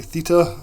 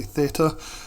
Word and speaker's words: theta: is or theater Traders I always say Theta I don't know if it's from in from Europe we say Theta and Americans say Theta um either way it's